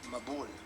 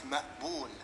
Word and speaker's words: Maqbul: When I was in primary school, there was a boy called Mabul. It's an Arabic name. It's pronounced Maqbul. That's the pronunciation, but you know, Anglos can't pronounce it properly.